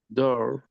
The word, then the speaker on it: door: So we would say, for example, Fer, ¿cómo pronunciarías la palabra puerta? Puerta. Considerando que es un sonido de O largo. Door.